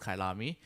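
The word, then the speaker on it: Kyalami: It's been a while since the last round in Kailami, which I've only just recently found out is pronounced Kailami.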